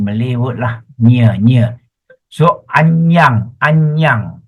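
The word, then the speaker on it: aññaṃ: So anyang. A-N-N-A-M is pronounced as anyang.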